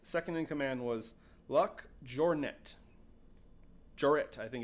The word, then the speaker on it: Jouret: his second Joseph's second in command was luck jouret jet I think it's how you pronounced that I'm not sure actually uh j o u r e t joret Jor where's he from well they were found